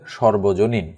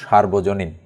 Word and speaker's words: সর্বজনীন: সকলের জন্য প্রযোজ্য এক কথায় হবে সর্বজনীন। বানানটা খেয়াল করতে হবে, শয়ের পরে কিন্তু আকার নেই, না হলে কিন্তু উচ্চারণ হতো সার্বজনীন।